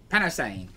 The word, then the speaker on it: Panosian: Panosian? Panosian.